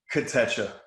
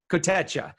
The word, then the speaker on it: Kotecha: How do you spell that? How do you say that again? One more time? Kotecha. Kotecha.